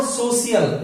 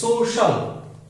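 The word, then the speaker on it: social: जैसे मैंने लिखा सोशल, सोशल, इट्स नॉट सोशियल, इट्स सोशल।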